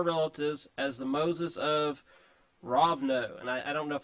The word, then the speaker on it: Rovno: as the Moses of Rovno. And I don't know if I pronounced that correctly. It's actually Rovno. It's Rovno. Okay, it's a long O.